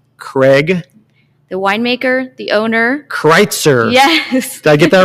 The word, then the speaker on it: Kritzer: Kritzer. Yes. Did I get that right? Did I pronounce it?